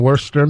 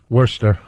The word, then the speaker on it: Worcester: Worcester. Yeah. All right. Whatever. They like to call Worcester up there. Oh, Worcester? Worcester. Then take the R out. The R is silent.